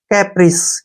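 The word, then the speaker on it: caprice: सी ए से हमारा हो गया के, पी से हो गया पै, आर आई से री, और सी से से बन गया कैप्रिस। क्या पढ़ेंगे इसको, कैप्रिस।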